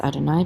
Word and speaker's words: Adonai: then we have Adonai this is the sacred name we pronounce it as Adonai because of the vowel markings and we translate this